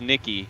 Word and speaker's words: Nicky: And yes, it is Nicky. Noman, I was corrected again.